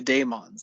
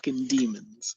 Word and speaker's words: Dæmons: the daemons part one starting in three two one go and yes i will be saying the daemons this whole time it's not the demons i'll probably end up